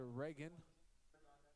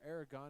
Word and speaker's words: Aragon: That's going to be on Julia Reagan, or Aragon, excuse me, if I've been pronouncing that wrong all game.